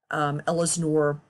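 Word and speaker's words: Ellsinore: There's Poplar Bluff, Ellesnore, that's how you pronounce that, Mill Spring, Williamsville, Van Buren.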